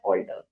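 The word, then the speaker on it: altar: And this is ऑल्टर, बट ऑल are both are pronounce as ऑल्टर।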